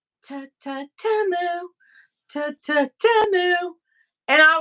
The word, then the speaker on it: Temu: Timu, or sorry, Tamu, that's how it's pronounced Tamu.